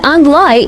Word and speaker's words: 旺来: Pineapple is pronounced as Angloi in the local Hokkien dialect.